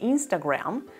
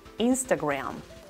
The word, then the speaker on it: Instagram: estoy hablando de instagram ambas palabras telegram e instagram tienen la misma pronunciación en la última sílaba rama no se pronuncia a gramo con a si no se pronuncia graham instagram telegram telegram instagram yesterday